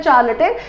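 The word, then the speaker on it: charlatan: अभी देखिए चार्लेटन का मतलब क्या होता है, देखिए चार और लाते, हम इसको रिलेट कर रहे हैं, इसका प्रोनाउंसिएशन है चार्लेटन, चार लाते।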